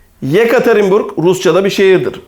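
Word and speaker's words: Екатеринбург: bir harfe bakalım ye Yekaterinburg Yekaterinburg Rusçada bir şehirdir Burada dikkat edin ilk E harfini y diye telaffuz ediyoruz ama ikinci E harfini normal e gibi telaffuz ediyoruz e harfinin zorluğu burada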